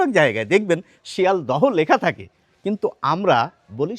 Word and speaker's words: শিয়ালদহ: আমরা তো কষ্ট করে উচ্চারণ করতে চাই না, সেই জন্য হটি বাদ দিয়ে উচ্চারণ করি। তাহলে কি হয়ে যায়? শিয়াল দ।